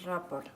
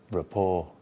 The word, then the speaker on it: rapport: There's audience report. Audience. There's audience report. And that, the AU is pronounced?